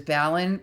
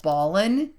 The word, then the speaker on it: Ballen: is because even though my last name is Balon people pronounce that Ballin and got kind of that hey this website's